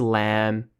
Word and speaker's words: lamb: The first thing that comes to mind for me is the unpronounced B at the end of some words in English, such as lamb and comb and that sort of thing.